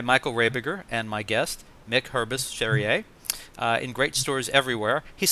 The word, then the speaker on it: Hurbis-Cherrier: You can find Directing, Film Techniques and Aesthetics, written by Michael Rabiger and my guest, Mick Hurbis-Cherrier. In great stores everywhere. He's smiling because I think I got his name right, pronounced right.